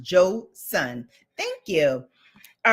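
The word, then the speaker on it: Joseon: It's pronounced Joe Sun.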